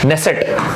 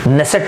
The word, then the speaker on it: Knesset: जो यहाँ का लेजिस्लेचर है उसका नाम है नेसेट, के लिखते हैं लेकिन के साइलेंट रहता है, KNESSET, ये आपने काफी बार सुना होगा, नेसेट बोलते हैं दोस्तों, इसको ध्यान रखिएगा दोस्तों।